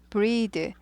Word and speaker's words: breath: breathe. 요거는 breath예요. 이건 숨, 호흡이에요. 명사예요. breath. 숨 쉬다는 어떻게 돼요? 이가 하나 더 붙어요. breathe. 발음이 breath에서 breathe, 에에서 이로 바뀌고 th에서 the로 바뀌는 거예요. breath, breathe.